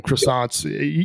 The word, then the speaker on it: croissant: Croissants, you know, I'm sure Seb you and Charles know croissants. And on the pizza thing like it is silent. It's it's croissant. You don't say.